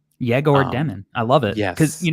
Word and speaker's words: Egor Demin: to say his name so he says it's pronounced yeor demon jagor demon I love it because you know what's funny